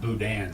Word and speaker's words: boudin: spelled it b-o-u-d-i-n but I always heard it pronounced Boudin so am I pronouncing it wrong or I'm